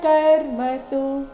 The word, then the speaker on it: ಕರ್ಮಸು: ಹೇಳ್ಬೇಕು ಸಜ್ಜಂತೆ ಗುಣ ಕರ್ಮಸು ಗುಣ ಕರ್ಮಸು ಕೊನೆಯ ಸು ರಸ್ವ ಬರಬೇಕು ತಾನ ಕೃತ್ಸ್ನ ತಾನ ಕೃತ್ಸ್ನ